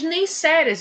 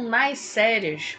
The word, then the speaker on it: Neisseria: E aqui a gente tem as neisseras, né, ou naisérias, como eu disse a vocês, existe uma diferença de pronúncia aí entre grandes microbiologistas, né, mas as duas formas da gente falar estão corretas.